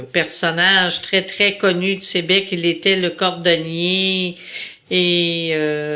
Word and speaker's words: Sayabec: Dans la vallée de la Matapédia, dans la vallée, un petit village qui s'appelle Sébec, qui s'écrit Sayabec.